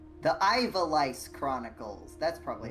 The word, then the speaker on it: Ivalice: The Ivalice Chronicles. That's probably how you say it. That's probably like when you character diagnosed, you you go to the doctor and you say Ivalice.